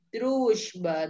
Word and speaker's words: дружба: Дальше kita punya дружба. Дружба. Дружба. Ya, walaupun di situ tulisannya Z, tapi kita bacanya nggak дружба ya. Дружба, agak halus.